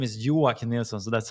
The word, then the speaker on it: Joakim: My name is Yua. So that's how we pronounce it.